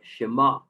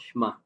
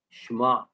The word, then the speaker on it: Shema: Like Shema, with the ayin at the end, not Shema or Shema. Shema, right?